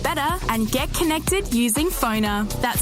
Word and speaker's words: Phoner: Find people easier, market yourself better, and get connected using Phoner. That's spelled PFONR.